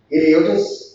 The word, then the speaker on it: Heliotis: He's currently a project manager at Heliotis AG. Is that how I pronounce it?